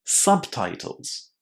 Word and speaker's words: subtitles: What you need to remember here is to say a short a in the first syllable. A lot of learners forget about it and say u, but it's not u, it's sa, sub. And then titles with a nice I inside, subtitles.